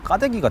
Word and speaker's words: 까대기: 원고 작업하면서 좀 찾아보니까 우리 국어사전에 가대기라는 단어가 있더라고요 그 가격이라는 단어가 쌀 가마니를 부둣가에서 나르는 일 이런 것들을 가득이라고 이제 하는데 아이 가데기가 세월이 그래서 이제 된 발음이 붙어서 까대기가 됐구나라는 작가로서 짐작을 하게 돼서